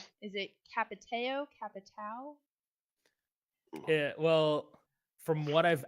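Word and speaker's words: Capitão: if you want to pronounce it like a Brazilian way, the thing on the A at the end, it's like it's like an N. It's like a N pronunciation at the end. So like capichão.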